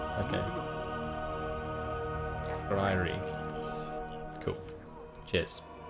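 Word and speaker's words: Skryre: Valerian says it's Skryri. Skryri. Okay. Skryri. Cool. Cheers. How we pronounce that?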